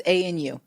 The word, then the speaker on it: ANU: Is it a new consultants or a new consultants? It's ANU. ANU.